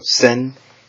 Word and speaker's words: 千: So sen and chi.